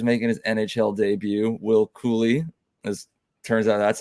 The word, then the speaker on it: Cuylle: If you've been listening to us for the past several months, we've been calling him Will Cuylle, and we just found out via the New York Rangers team website pronunciation guide. It is Cooley.